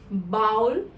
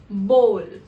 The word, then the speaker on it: bowl: Now this is often pronounced as bowl or bowl. That is incorrect. The correct way to pronounce it is bowl, where OW don't actually make up the sound ow but O.